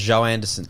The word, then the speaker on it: Joanderson: jo anderson joe anderson that's one name i feel like it's pronounced joe anderson like like zhao you know i feel like